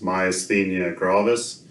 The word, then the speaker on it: myasthenia gravis: The first part of the first word, my, then as, and then the-nia.